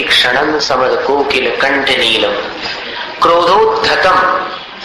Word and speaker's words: क्रोधोद्धतं: क्रोधोद्धतम इसका उच्चारण म के समान।